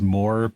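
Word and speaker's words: Mooer: supposed to be pronounced more but it I'm from the Midwest and it's spelled m o o e r yeah so of course it's Mo um but they've made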